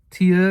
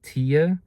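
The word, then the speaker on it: Thya: Tia is her her name. Um it's spelled T H Y A. Tia.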